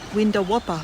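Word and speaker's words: Windawowpa: houses that's spelled w-i-n-d-a-w-o-w-p-a window Whopper laughs a pic of a Whopper burger yeah similar sounds the same yeah absolutely Stephanie people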